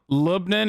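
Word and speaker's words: لبنان: he's made in greek lebanon lubnin is actually close to the arabic pronunciation australians in the chat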